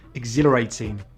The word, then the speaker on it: exhilarating: And we don't always say the H after EX: exhilarating, exhausting, exhibition, but we do say it in exhale.